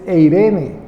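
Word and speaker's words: εἰρήνη: nun en griego y la pronunciación en español es eirene.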